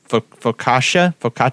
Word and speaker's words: focaccia: And the food pairing recommendations, they say pork chops, beef, grilled fish, frites, focaccia.